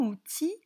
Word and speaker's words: outils: regarder un petit conseil n'oubliez pas le s qui ne s'entend pas à la fin du mot passons à la rubrique